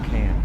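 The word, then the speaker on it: Cannes: But the pronunciation is it con or can? It's been driving me nuts my whole life and I've never been there. Yeah, it's can.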